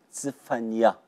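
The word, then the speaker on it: צפניה: 希伯来文的发音是兹番尼亚，兹番尼亚，兹番尼亚，兹番尼亚。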